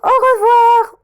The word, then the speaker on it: au revoir: Au revoir. Au revoir. Avec mon AU, on le prononce O. OI, on le prononce WA.